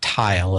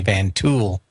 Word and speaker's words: Van Tuyl: And, of course, not Tile as it's pronounced, but a lot of people, because the way it was written, would say Van Tuyl.